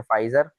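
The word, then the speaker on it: Pfizer: एक है फाइजर इसमें पी साइलेंट है। ठीक है? पी नहीं पड़ते।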